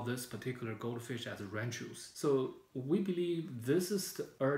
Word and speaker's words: Ranchu: And then if you found the pronunciation translated now back to R-A-N-C-H-U as Ranchu.